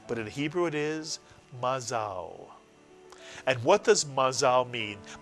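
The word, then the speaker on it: מזל: is simple, ma, mitsuyan, and now the second syllable that begins with the new letter zayin. Zal is correct, put the word together. Mazal, mitsuyan, mazal. By the way, in Yiddish the word is mazel, but in Hebrew it is mazal.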